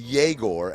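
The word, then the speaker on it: Egor: Google told me it's pronounced yaore and not eigore even though it's spelled e gore.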